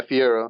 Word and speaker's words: fiero: I think you brought up the idea of fior, if I'm pronouncing that correctly. That makes sense. Yeah, fiero.